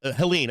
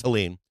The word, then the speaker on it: Helene: That's right, Helene. I said Helen. It's Helene.